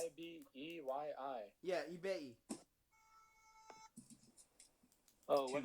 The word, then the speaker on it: Ibeyi: Yeah, it's It's a Spanish version of a Yoruba Bantu word. Never mind. It's Ibeyyi.